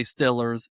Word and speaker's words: Steelers: people pronounce the word Steelers. And sometimes it slips out of my mouth too. I say Stillers as well. For people who don't know, it's saying Steelers, but putting an I in there instead.